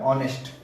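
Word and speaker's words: honest: ए रही है ओके हा इसमें साइलेंट है ऑनेस्ट ऑनेस्ट मां तो ध्वनि देखिए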